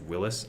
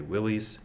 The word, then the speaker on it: Willys: used very widely Willys Jeep yes it is pronounced Willis I say willies who cares doesn't matter that would the go-devil